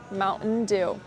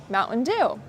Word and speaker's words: Mountain Dew: So, you do not pronounce the T in the glottle stop. You will say Mountain Dew. Mountain Dew.